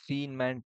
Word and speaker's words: Feynman: Yeah, that's the Feynman technique. Okay, sorry for the mispronunciation.